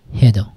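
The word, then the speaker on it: hej då: হেদো, হেদো, ঠিক আছে? আচ্ছা, এই উচ্চারণটা, এই যে এই দো, এই উচ্চারণটা অনেকেই মানে নেটিভ স্পিকাররা দোয়া বলে। দোয়া, দো অথবা দোয়া, দুই রকমই শোনা যায়।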